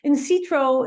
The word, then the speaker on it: Insitro: So Insitro is, which is spelled INSITRO, is the synthesis of in silico,